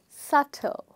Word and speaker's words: subtle: The next word we have is subtle, okay? Now, you already guessed that there is one letter in the word which is silent, and that is B.